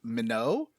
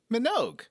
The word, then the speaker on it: Minogue: i was wrong about kylie minogue being pronounced minnow it turns out minogue is pronounced minogue i'm i like the fish i was wrong about